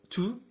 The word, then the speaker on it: tout: So if we break that down, we have tout or tout. It can be pronounced either, depending if it's masculine or feminine that it's talking about.